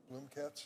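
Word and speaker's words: Bloomekatz: Rachel Bloomkatz, did I pronounce that correct? Bloomkatz? Yes. Bloomkatz, nominated to the 6th Circuit.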